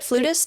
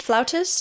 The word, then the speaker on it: flautist: also a talented uh flautist musician is that how you say it flutist flautist it's actually you can say it both ways say both I've looked